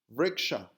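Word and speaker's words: वृक्ष: Vriksha, which means tree. So you have the same three consonants, V, RK, and WRK. Remember, the V is pronounced as W in Sanskritam. Both are phonetically identical in Sanskritam.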